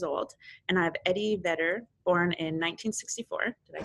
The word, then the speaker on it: Vedder: And I have Eddie Vedder, born in 1964.